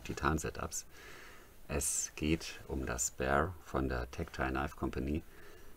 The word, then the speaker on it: Bexar: Es geht um das Bear von der Tactile Knife Company. Geschrieben wird es Bexar. Das X wird bei der Aussprache allerdings verschluckt oder ignoriert.